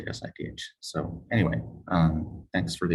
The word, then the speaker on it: SIDH: Some people say side, but I just say SIDH.